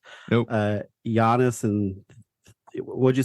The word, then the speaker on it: Giannis: I was pronouncing it Giannis. I was pronouncing it like it's spelled, but no, he's just pronounced Giannis.